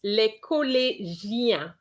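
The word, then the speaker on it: le collégien: for both of you it's le cole jian you have the sound it's the same sound which we have in shia which is dog le collegia okay le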